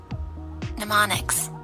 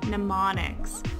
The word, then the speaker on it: mnemonics: we're doing is using i always got this wrong so i already preset how to say it properly mnemonics mnemonics we're going to be